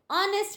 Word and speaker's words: honest: Gandhi is an honest man, even though H is consonant, O is vowel, but giving the sound H is silent here.